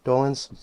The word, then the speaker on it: Dolenz: And you talk about your friendship with Mickey Dolenz. Did I say his name right? Dolenz?